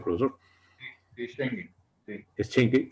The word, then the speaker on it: Schengen: ¿Cómo se pronuncia, profesor? Sí, Schengen.